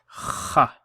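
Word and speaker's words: خ: on the top, and this is pronounced as kha. Kha with a fatha on top. Kha. And the easiest way to remember this is kha, like you're clearing phlegm, and that phlegm has come out.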